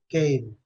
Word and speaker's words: came: O M final em inglês, Madalena, é M de mamãe, meme.